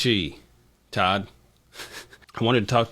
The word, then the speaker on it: Chi: It's pronounced Chi.